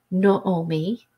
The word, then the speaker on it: Naomi: bit then we have Naomi Naomi which is pronounced Naomi no Omi which I found out in researching